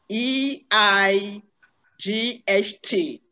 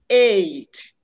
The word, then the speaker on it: eight: is the a a every diphthong is pronounced with a glide from one vowel sound to another this diphthong is pronounced